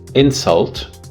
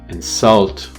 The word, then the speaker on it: insult: For example, the word insult, if you pronounce it with the stress on the first syllable, would be a noun, but if you pronounce it with the stress on the second syllable, it would be a verb.